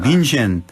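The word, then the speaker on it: München: 그러니까 이제 독일식 발음 민헨. 그리고 우리가 알고 있는 민헨, 그죠?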